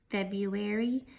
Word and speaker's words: February: February January and stationery now I always like to point out February because it is spelt differently than how we sound it out or how we say it this sneaky r seems to be in the wrong place and we say it differently that it's spelled so just make sure that you note that the R comes before the you alright let's go ahead